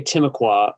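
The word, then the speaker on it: Timucua: more about them yeah so we say timokwa but of course they're they're totally extinct so it's hard to say how it's actually pronounced i don't i've never found someone to to correct me on sing aqua but that's what that's how we say it here and they were they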